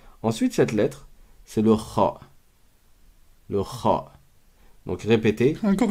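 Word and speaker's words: خ: Donc, Kha. répétez après moi. Kha. Kha. En gros, c'est KH. Kha. Comment on prononce cette lettre? C'est comme le R en français de certains mots.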